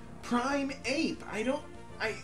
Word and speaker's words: Primeape: gym leader it's a girder God except for primate Prime yeah primeape I said it right that time except for